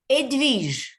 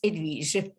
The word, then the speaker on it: Edwige: Edwige. Oh, wonderful. Where are you from? The H is silent. In French, the French people don't know how to pronounce an H. So it's there, but it's Edwige.